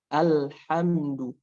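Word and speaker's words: الحمد: Ketika fathah itu harus dibuka. Alhamdu. Jadi jangan ada kedengaran suara seperti alhamdu. Nah, itu ada kedengaran seperti Yang betul ketika mengucapkan itu harus benar-benar terdengar alhamdu, Nah, seperti itu ya kaidahnya.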